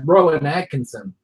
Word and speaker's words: Rowan Atkinson: Oh, that's Rowan Atkinson. Or correct my pronunciation, Stephen.